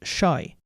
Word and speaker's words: shai: The first of those is shai. Shai is conventionally pronounced like the sound sh, as in the word shori.